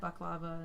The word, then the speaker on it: baklava: I haven't had Baklava in so long. Or I've heard it pronounced baklava as well.